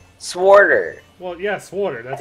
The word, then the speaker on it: SWTOR: Well, yeah, Sworder. That's how you pronounce it.